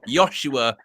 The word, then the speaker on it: Joshua: and he was like no it's a soft J and it's Zer Z so it's soft J Zer like Yos Yoshua xer and then he